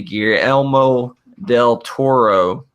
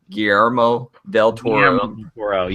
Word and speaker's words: Guillermo del Toro: the film crimson peak it is the gear elmo del toro guillermo del toro myself for pronouncing that semi-right horror film starring tom